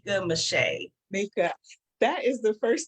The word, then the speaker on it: Meschet: And I wanted to say it is actually pronounced Meschet.